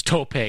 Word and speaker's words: tope: kingston said say it right pie it's it's tope not tope suicide it's tope all right get